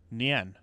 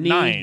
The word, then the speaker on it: Nien: Nien. Nien. It's so not 9. Yen. Yeah, it's Nien. If it were 9, the I would be after the E, like how you spell that.